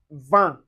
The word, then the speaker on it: vin: And we have an on un an An is usually written as I N or I M, and you can find it in word like vin.